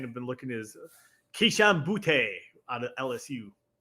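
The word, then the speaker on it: Boutte: been looking is kishan boote out of LSU like I think it's actually pronounced boot but I just call them booty it's like Joe John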